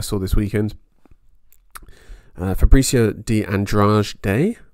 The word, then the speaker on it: Andrade: Fabricio de Andrade Day, I think they would pronounce it. But I'm going to go with Andrade, if that's all right with you.